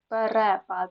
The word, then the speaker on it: перепад: першого префікс пере Так але перекис перепад на другу е буде наголос перепис але переляк так запам'ятайте перекис перепад